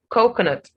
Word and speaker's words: coconut: Coconut. Now, it is the first syllable that is stressed in this word.